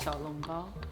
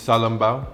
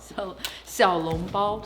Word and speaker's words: xiaolongbao: Have you had the most famous foods called xiaolongbao? The soup dumplings? Salongbao? Yes. Salongbao? xiaolongbao. Salongbao. Oh my god, I have to work on that pronunciation. Wait, say it again, say it again. 小笼包. Xiaolongbao. Oh my god, so much better.